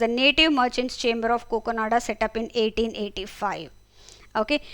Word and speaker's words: काकिनाडा: एंड यह बना था काकिनाडा आंध्र प्रदेश उसी को इसलिए कोकोनाडा बोला है। ठीक है? उस टाइम उसका प्रोनाउंसिएशन उस तरह से हुआ करता था।